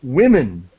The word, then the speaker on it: women: that's what we do women women is the pronunciation it's sort of strange key key element a